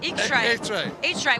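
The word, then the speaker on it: eachtra: to the what how do you say that eay hray which means Adventure that's Adventure at AR that's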